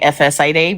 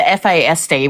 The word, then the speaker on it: FASD: I always say FSAD, which um should not do that, but the FASD, which is the correct saying of it. Um she uh he was